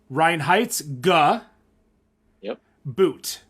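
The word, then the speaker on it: Reinheitsgebot: tito come on taito so it's it's rhine like rhinestone ryan yep heights ryan heights ryan heights guh yup boot ryan heights gaboot ryan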